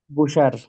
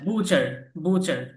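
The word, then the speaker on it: butcher: এম এর উচ্চারণ হবে প্লা প্লামার এর উচ্চারণ হবে না প্লামার প্লামার ওকে হুম আচ্ছা কসাই কসাইয়ের ইংলিশ বুসার হুম আবার বুসার বুসার বুসার বুচার বুচার আচ্ছা সে একজন কসাই ইংলিশ বলেন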